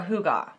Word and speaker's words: hygge: She said, we are hoo-gah, which if you're not familiar with that, this is what it looks like when you spell it out.